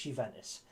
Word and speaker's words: Juventus: um on loan from juventus that's no no you didn't mishear me you ventus spelt with a j by the way it's a little bit silent but it's juventus let me take you